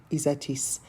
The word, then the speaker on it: Ysatis: so isol and Isis aitis or istis if you pronounce it properly so let's say a